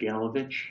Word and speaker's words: DeGelovich: DeGelovich. It's the stress is on the last but one, syllable. On the third, syllable.